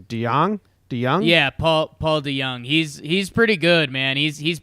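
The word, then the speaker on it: DeJong: Yeah, Paul DeYoung.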